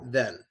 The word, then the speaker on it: then: When you say the first word that you see with the E there, that one is then. Just like that, then. The other word is than. It requires your mouth to open. It's like you drop your jaw, like you see a pretty woman. It's more like than. The other one is then. Completely different in pronunciation. Then and than, okay?